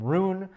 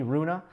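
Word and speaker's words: Rune: um some people are calling him roon some people are calling him Runa if you are um if you are from Denmark and you want to weigh in on how an English speaker should say his name uh I did speak to a Swedish friend of mine he told me Runa so if you want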